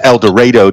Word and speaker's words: El Dorado: You have to put the emphasis on the right syllable, so it's El Dorado down here.